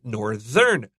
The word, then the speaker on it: northern: But when we have this word northern, we have to be careful of the pronunciation. 那个 th 会震动. So north and northern.